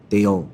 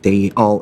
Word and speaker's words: they'll: 발음할 때 how brave they'll 정확하게 해줘야 됩니다. How brave they all 이렇게 하면 안 되고 how brave they'll all think me at home.